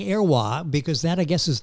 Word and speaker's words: Heroys: French am i saving in using the French pronunciation yes his descendants used the name Arawa the French name which was his great-grandfather was